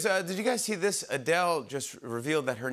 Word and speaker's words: Adele: Adele just revealed that her name is actually pronounced Adele. Adele's name is pronounced Adele.